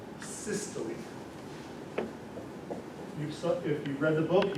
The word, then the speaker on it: systole: Contraction is called systole. If you've read the book, you've seen this word. It's pronounced systole. If you pronounce it systole, everybody knows you don't know what you're talking about.